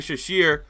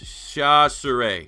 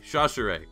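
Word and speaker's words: Chachere: a guy in Andre shishir we had a 449 40 he's 6 feet 200 pounds and I butchered his name it's Shaw sir a shot sir a Andre shot sir a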